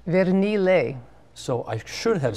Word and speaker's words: Vernile: And what's the Italian pronunciation on the last name? Vernile. So I should have said Vernile.